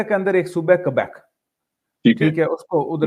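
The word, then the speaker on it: Québec: اندر ایک صوبہ ہے کیبیک، ٹھیک ہے، اس کو ادھر لکھا اس کا سپیلنگ ہوتے ہیں کیوبک، اس کے سپیلنگ ہوتے ہیں، لیکن اسے بولتے ہیں کیبیک.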